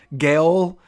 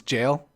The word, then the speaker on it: gaol: it just pronounced jail is it like a soft G jail if I've been calling it gaol Gale and it's jail but boo the Aaron